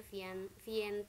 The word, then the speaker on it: Vientiane: Kalian bacanya Vientiane nama ibu kotanya.